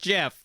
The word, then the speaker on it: Jif: i'm aware it's a has declared that it is pronounced jeff see when you say